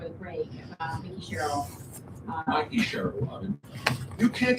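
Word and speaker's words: Mikie: I need to do a little bit better on my pronunciation of things, but Mickey. Mikey! Her name is Mikey!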